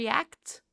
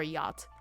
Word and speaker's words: yacht: like this right so I was trying to read it phonetically and I was like a star act star I was really confused and then I realized okay star yacht into a luxury star